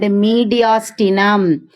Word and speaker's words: mediastinum: MEDIAS. TINUM. How will you pronounce this word?